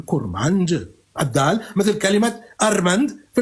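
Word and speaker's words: كرمانج: علم التفصيل اللغويستكس كور ماند ماند هي كورماند لكن الناس عندما تنطق بسرعه تقول كورمانج الدال مثل كلمه ارمند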